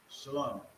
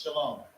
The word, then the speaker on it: shalom: It's shalom. Even when you see it spelled like this real quick, right? Shah, Shah. That is still shalom. That is still shalom. Do not say shalom.